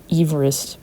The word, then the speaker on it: Everest: So I want to instead of putting Mount Everest, it would technically be pronounced Everest because of the guy that it's named after.